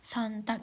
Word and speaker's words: Sonntag: Montak. Montak itu Senin, Dins itu Selasa. Mitwo itu Rabu, Dona itu Kamis, Friday itu Jumat, Samstag itu Sabtu, sontak itu Minggu.